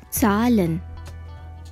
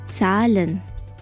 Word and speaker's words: Zahlen: let's begin salon once again salan means numbers today we are going to learn numbers from 21 to 100.